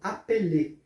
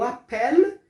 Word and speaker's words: appelles: E o appel, esse S do final também não é pronunciado no francês.